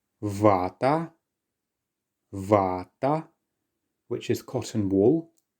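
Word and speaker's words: вата: The next word is vata. Vata.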